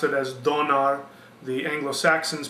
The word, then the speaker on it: Donar: name was thunar the Germans pronounced it as Donar the Anglo-Saxons pronounce it as thunor the actual pronunciation was